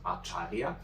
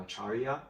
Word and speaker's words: Acharya: that you have your Instagram profile as Acharya. I'm sorry if I don't pronounce it correctly. No, you pronounce it really correctly. Perfect. It's Acharya.